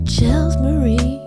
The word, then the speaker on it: Chels Marie: You know, Chels Marie. It rhymes with Louise V.